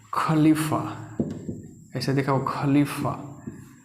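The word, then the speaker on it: ख़लीफ़ा: तो खलीफा ऐसे देख खलीफा तो खलीफा मतलब इसमें नुक्ता है इसका उच्चारण इससे अलग होता है ये फारसी वर्ड है आप सुने होंगे गजल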